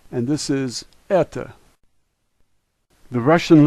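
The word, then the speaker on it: это: we have T and O and this is Etha the Russian letters s Tay ooh l make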